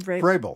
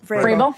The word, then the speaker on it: Vrabel: Vrabel. Vrabel?